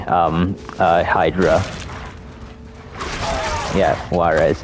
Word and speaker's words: Juarez: um uh Hydra yeah Juarez yet the J is silent that's why it's called